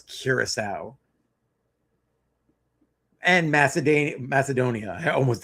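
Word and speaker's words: Curaçao: Honest to God, how are you a grown man and cannot pronounce Kiraasau? The accent is on the sea there. It's basic English and you cannot pronounce Ciraau and Maced Macedonia.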